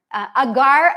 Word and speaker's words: agar: might but you know gargar agar AAR is how you say it is a natural plant-based